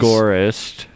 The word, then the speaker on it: agorist: Agorist. Pronounce it properly. Do you know that it's Jay passing you by and he's got a truck full of goodies, because that's what he does. Agorist. I don't want to say Agorist. As in the Agora. The open market.